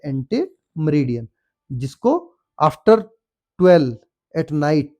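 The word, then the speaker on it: ante meridiem: आप याद रखिए एएम होता है एंटीममेरडियन। इसको बोला जाता है एंटीमरीडियन जिसको आफ्टर 12 एट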